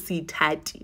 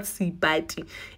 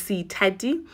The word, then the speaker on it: Sithati: You guys don't even know how to pronounce my name, but my name is Sithati, not Sibati. It's Sithati, but you can call me Tati, guys.